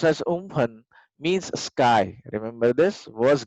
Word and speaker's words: Amphan: The name Umphan, which is pronounced as Umphan, means sky.